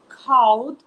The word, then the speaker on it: called: Quando nós acrescentamos ED, nós vamos colocar... O som vai ter um D muito discreto. Nós falamos called. Happened. Né? Nós não formamos uma outra sílaba.